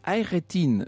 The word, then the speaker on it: Hayrettin: besoin d'une petite aide barbaros haïr eddine pacha se prononcent hayrettin ça c'est pour le turc incontestablement nous avons une